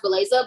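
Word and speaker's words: Bellecza: looks it looks weird it's spelled b-e-l-l-e-c-z-a but it still pronounced blaza but i'm like okay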